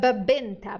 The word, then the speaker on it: venta: burro você un Perfeito letra V no espanhol som de B tá Benta Benta que ten em